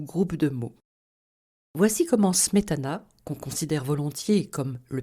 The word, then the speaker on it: Smetana: Le premier de ces deux accents est un accent d'intensité, qui affecte la première syllabe du mot ou groupe de mots. Voici comment Smetana, qu'on considère volontiers comme le père de la